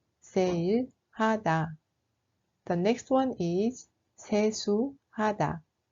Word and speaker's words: 세일하다: We write it like 세일, but it is pronounced like sale. 세일하다, 세일하다.